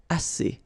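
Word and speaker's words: assez: Remember two vowels here and then uh and then double s. So it's really strong the s as okay as so same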